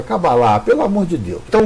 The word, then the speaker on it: Cabala: com H no final, outros pronunciam até Cabalá, que seria correto do ponto de vista do hebraico, gente. Do hebraico é Cabalá. A palavra correta é Cabalá, mas a gente está no Brasil. E como a gente está no Brasil, a gente tem que pronunciar da forma que o brasileiro fala. Então é Cabala.